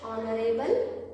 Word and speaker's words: honorable: H is silent, so here also H is silent. How do you read it? Honorable. ಒಂದ್ಸತಿ ನೀವು ಅಂದ್ಬಿಡ್ರಿ, honorable ಅಂತಿರ್ತೀವಿ, but it is honorable.